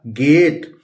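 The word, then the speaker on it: gate: देंगे और ट लिख लेंगे, ये हो गया गेट। इसी तरह र प्रोनाउंस करेंगे, ए की मात्रा लगा देंगे और ए ट लिख लेंगे तो क्या हो गया?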